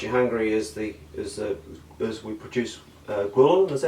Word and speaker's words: ghrelin: because what makes you hungry is we produce ghrelin, is that how you say it?